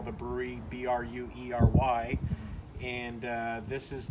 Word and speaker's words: Bruery: brewery this is the brewery i don't mean it as brewery as like a typical brewery but it's spelled b-r-u-e-r-y the guy that owns